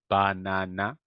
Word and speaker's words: banana: So banana would be stressing the three syllables equally, but that doesn't happen in English. If we have more than one syllable, there will be one that is stressed more than the others, right? In this case, we have three syllables, and we're supposed to stress the one in the middle, right?